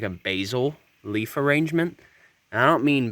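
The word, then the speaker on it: basal: of has like a basil leaf arrangement i don't mean basil is in the herb it's actually spelled differently it's b a l basil even though it's pronounced the same that's the english language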